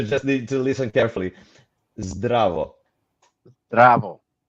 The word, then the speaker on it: Zdravo: Is it Zdravo? Okay, you just need to listen carefully. Zdravo. Bravo. It's a draw. Yeah, It's great, a draw. great, Jack. Yeah. Oh, cool. Well, bravo. Zdravo.